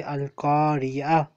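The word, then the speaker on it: القرية: No, to don't say to say Al-Kariya. Okay, because it has that circle at the end. Okay, Yes, okay, it is. okay. Okay, I got it. I got you. It is written Al-Kariyatu, Al-Qariyah.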